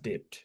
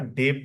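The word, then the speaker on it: debt: না ব্যবহার করতে পারবেন না টু সেটেল প্রিভিয়াস ডেট এটা আমি সবসময় ডেপড বলি কিন্তু এটা আসলে উচ্চারণটা হচ্ছে ডেট।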